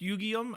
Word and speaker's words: Yugyeom: channel this is what I think is pronounced yugium I'm not sure I believe if I did